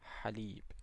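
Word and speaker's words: حليب: So to pronounce this one is as if you are saying ah but you just give it the vibration in the back of the throat. So we say halib milk.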